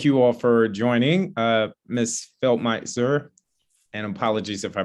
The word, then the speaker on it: Feldmesser: Yeah, very close to the pronunciation. It's Feldmesser.